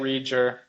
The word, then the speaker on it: Reger: Reger. I always I don't even know if I've ever said it out loud. So, yeah, we we say it rear.